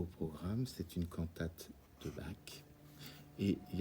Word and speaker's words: Bach: Aujourd'hui, au programme, c'est une cantate de Bach.